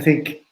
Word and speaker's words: Thync: can they do it our company think is spelled th YNC so we have a website